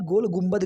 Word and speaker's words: गोल गुंबद: हमारा जो अगला प्रश्न है वो है कि गोल गुंबज कहिए और या फिर गोल गुंबद कहिए, वो दोनों सेम ही हैं, उसका प्रोनाउंसिएशन अलग अलग है।